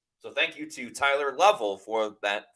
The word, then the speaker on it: Lovell: Forgive me, but it's pronounced Lovell, like shovel.